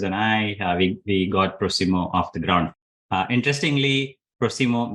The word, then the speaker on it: Prosimo: That is the right way to say it, ‘Prosimo’ that’s right.